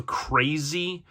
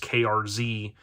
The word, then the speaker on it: KRZ: not but this is krz so crazy was kind of I guess how you would really pronounce it I always called it just krz so kind of a